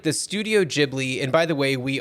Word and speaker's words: Ghibli: feel like the studio jibli and by the way we are uh we have decided to go with the pronunciation jibli that is the way that Miyazaki pronounces it so we are going